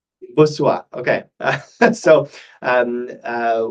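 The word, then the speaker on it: Bossuat: author of Lattigo, Jean-Michel, uh, Jean-Philippe, uh, Okay, Boussat, how do you say his name, Mark? Do you know? Boussuat. Boussuat, okay.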